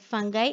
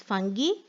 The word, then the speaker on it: fungi: of bacteria and fungi you can pronounce fungi fungi as fungi or fungi next is rot as